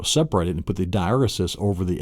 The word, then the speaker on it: diaeresis: Then the last one, after your macron, then you have what is called your diaeresis. Diaeresis, that's the correct pronunciation of the sixth mark, the diacritical mark.